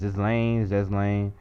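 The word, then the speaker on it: Ghislaine: Here's that infamous photo with Prince Andrew, and with I can't pronounce that name. It's Ghislane.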